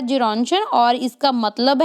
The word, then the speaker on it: Gerontion: Then Gerontion बोलेंगे, इसकी ये प्रोनाउंसिएशन होगी। 1920 में इनका ये वर्क आता है। ये ग्रीक टाइटल है जेरोंशन, और इसका मतलब है लिटिल ओल्ड मैन।